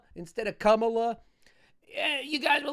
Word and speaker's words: Kamala: channel would yell at me for saying, what, Kamala instead of Kamala.